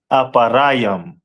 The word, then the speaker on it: Ephraim: And in Hebrew it is pronounced as aparam.